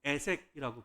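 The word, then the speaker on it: 에섹: 나와요 그래서 이삭이이 우물의 이름을 뭐라고 바꿔서 부르냐면 애색이라고 발음을 싸움 다툼이라는 말 또 다시 이주를 해 해요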